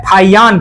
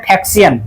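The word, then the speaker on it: 法显: चलिए सबसे पहले नाम आता है फाहियान का, जिसको हम लोग इंग्लिश में देखिए क्या बोलते हैं, फैक्सियन, ठीक है, और हम लोग हिंदी में उसको प्रोनाउंस करते हैं फाहियान, फाहियान या फैक्सियन, जो भी चीज है।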